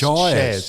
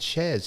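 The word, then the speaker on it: Syaz: Y A Z but it's S YZ it's pronounced shez it's pronounced shez he's put it in brackets.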